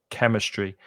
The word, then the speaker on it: chemistry: the pronunciation of chemistry that ch in chemistry is a hard k sound chemistry and physics is is